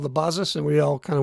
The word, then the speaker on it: BASIS: I look at it, I see the word basis. But I guess because it's a German Apple II clone, it's pronounced Basis.